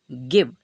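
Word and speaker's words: give: हम बनाते हैं वा लास्ट वाला ई क्या रहेगा साइलेंट तो इसे हम क्या पढ़े गिव ठीक है तो गिव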